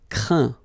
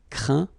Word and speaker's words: craint: Craindre, craint. Contraindre, contraint. Plaindre, plaint. Okay, and as usual, final T here is not pronounced, so you get craint, contraint, plaint. Okay.